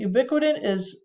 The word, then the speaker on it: ubiquitin: Ubiquitin sounds like the word ubiquitous, and it's a way they've discovered that tags a protein that needs to get broken down.